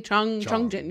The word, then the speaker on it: Changjin: Do you pronounce it Chang or Chong? It's probably Chongjin. You're right. I didn't actually Chongjin. look at the characters, so I Yeah, it's definitely Chongjin. the romanization looks like Chong, but I'm not.